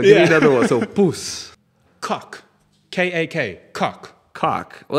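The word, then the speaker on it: poes: It's spelled P-O-E-S. And it's just pronounced poos.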